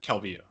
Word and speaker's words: Calvillo: no why would they say ah I can't pronounce her name her just guy was fighting yeah Calvillo Calvillo that's it so she accused Jess guy of